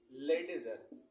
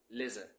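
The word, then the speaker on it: ledger: वो कहलाता है लेडजर। लेडजर नहीं मेरे भाई, डी इसमें क्या रहता है, साइलेंट रहता है, इसको कहा जाता है लेजर।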